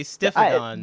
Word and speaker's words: Stiphodon: That is an I, not an E.